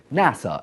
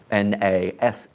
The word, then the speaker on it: NASA: and Space Administration is an acronym by the way not an initialism because we pronounce it NASA and not and a SS today around 18,000 people